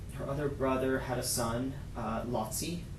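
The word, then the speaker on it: Laci: Her other brother had a son, Lotzi. It's spelled L-A-C-I.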